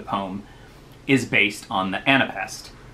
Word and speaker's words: anapest: is based on the anapest. An anapest is three syllables with the third being stressed.